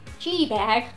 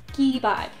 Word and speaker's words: gee bag: Now, if you're American and you've never heard it before, you might be saying, gee bag. That's wrong. The word is actually pronounced gee bag.